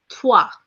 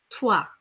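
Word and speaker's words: trois: being written down as t-r-o-i-s which is being pronounced as thwa which is being pronounced as thwa four in French is being written down as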